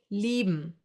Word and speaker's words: lieben: I-E will be pronounced like a long, slow E, like for example in cheese. Another German diphthong. A few more examples for this sound would be lieben, to love, or Bier, beer.